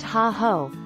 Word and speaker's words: hey-ho: If you'd like to know a few easy Ho-Chunk words, hey-ho, pronounced ha-ho, is a friendly greeting, and pinajiji, pronounced p-na-ji-ji, means thank you.